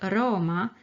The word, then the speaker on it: aroma: short reverse the word aroma has a short ah and a long o